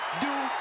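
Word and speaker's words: Dupri: Michael, it's pronounced Dupree.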